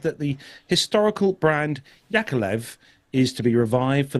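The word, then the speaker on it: Yakovlev: is to be rebranded Yakov or yakolev if you want to pronounce it right Russian made commercial aircraft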